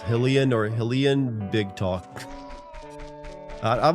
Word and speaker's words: Hylian: Her meow is it is pronounced Hillian or Hillian. Big talk. I've always said Hillian. I've said Hylian.